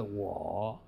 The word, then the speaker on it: 我: 比如说我、你、他的我，这个台湾话口语说挂哦，但是呢，真正的国语发音是我哦，就给他